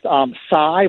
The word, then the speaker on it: Xi: But the one after that, it's pronounced Xi, but it's spelled XI.